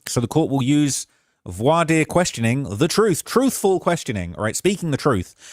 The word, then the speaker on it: voir dire: Said also to offset prejudice, the court will use a voir dire. Let me make sure I'm saying that right. Pronounce voir dire. Voir dire. That's how it's pronounced.